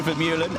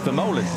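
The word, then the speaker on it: Vermeulen: Uh Tiier Vermuan as as we call him. We've now been told Verolan is the correct way to pronounce it or similar uh as close as I'm going to get probably.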